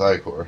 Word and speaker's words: ichor: That's pronounced ichor. Hey, I got it right.